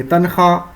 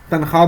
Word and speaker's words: تنخواہ: کی آواز نہ ہو، جو لکھا تو جائے لیکن پڑھا نہیں جائے، اسے ہم وائے معدولہ کہتے ہیں.